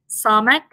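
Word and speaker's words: samekh: Then we also have the samek, pronounced as kind of a dull S again with the tongue pulled back a little bit further so that it is pressed against the hard palate.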